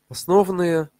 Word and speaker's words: основные: Это основные, ну я вот так ударение ставлю на вот основные, потому что соответствует основаниям.